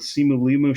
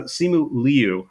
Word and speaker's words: Simu Liu: Uh one that I I very nearly put in is from the Simu Liu show. Uh Simu Leu. I keep mispronouncing his name.